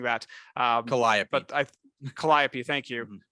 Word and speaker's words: Calliope: I'm mispronouncing that. Calliope.